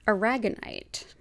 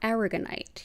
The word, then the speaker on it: aragonite: have to suggest is aragonite or aragonite you may have heard it pronounced either way this is a a